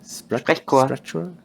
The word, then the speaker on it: Sprechchor: Chor, not chor. Sprechchor. Sprechchor. The CH is just a K in this case.